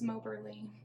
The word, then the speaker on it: Moberly: This is Moberly. That's how you pronounce my screen name if you're wondering.